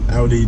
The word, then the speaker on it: Audi: So, and is it pronounced Audi or Audi? I get corrected all the time. I didn't think it mattered. Yeah, it matters. It's pronounced Audi. Audi? Okay. Okay, so I was right. So all of you that correct me, I was right. You were wrong.